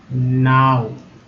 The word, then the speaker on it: know: KNOW, क्या पढ़ेंगे इसे, लोग कनाव पढ़ते हैं, है ना। जो नहीं है, जिनको नहीं आता वो पढ़ते हैं कनाव। कनाव बोलते हैं, लेकिन ये के जो है साइलेंट है। यहाँ एन है ना, के एन से ना होगा, के एन से ना होगा तब क्या पढ़ेंगे, नाव, नाव, ठीक है, नाव पढ़ते हैं।